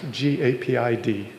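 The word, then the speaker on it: GAPID: a awesome new debugger I think it's pronounced G Aid D but maybe it's gaid it's gaped okay yeah the Google guys are saying okay so gaped um uh is a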